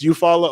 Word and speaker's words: Eufaula: no in oklahoma it's you follow oklahoma and the e is silent but it's not spelled